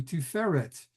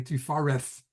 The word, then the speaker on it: Tiferet: You need the heart, and that brings us to Tiferet. And again, the Hermetics will say Tifareth.